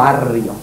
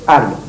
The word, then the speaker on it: Ario: en castellano, por tanto, Ario o Ario, pero no Arrio. De arriano y arrear es demasiado cercano y no conviene. Así que yo propongo que lo corrija. Es un error histórico que se fue pronunciando así con R vibrante y pasó a doble R, que no debe pasar. Es Ario.